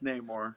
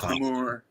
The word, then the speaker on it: Namor: Victor Von Doom has that charisma about him, just like Namor, however you pronounce it. So Namor. It's Namor. Namor. It's not Namor.